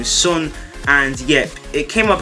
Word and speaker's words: Son: That's how you say his name, is Son.